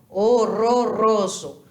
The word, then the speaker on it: horroroso: fantástico o russo para horroroso se inscreve igualzinho mas a pronúncia é outra porque o r Ele sempre vai vibrar em espanhol horroroso Não importa se é